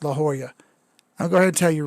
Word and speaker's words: La Jolla: no no no no no pete says it's pronounced la joya i'm going to tell you right now that this is still america and if i want to if i want to call it la jolla then by god it's la jolla la jolla